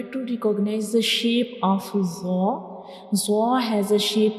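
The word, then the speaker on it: ظ: a bold letter, and when we pronounce bold letter, they produce heavy sound like zo, zo.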